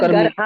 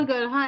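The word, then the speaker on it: गर्हा: किसको होते हैं भया ग्रहा होता है ग्रहा ग्रहा नहीं ग ग्रहा मेरे उच्चारण में हो गया निंदा और गहा ऐसे भी कह सकते हैं ना जैसे गुरु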